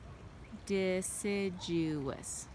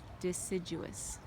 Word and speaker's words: deciduous: Deciduous. So it has 4 syllables. Deciduous.